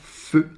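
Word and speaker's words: phở: Le faux que l'on prononce feu.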